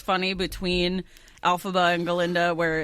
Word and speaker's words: Galinda: fight scene, but it's funny between Elphaba and Galinda, where it's more like physical comedy kind of thing.